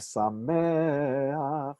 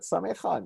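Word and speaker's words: שמח: second one under, but don't pronounce it samecha. No, no, no, no, no. You know that this is sameach, like Noach and Koach and a few other words we saw.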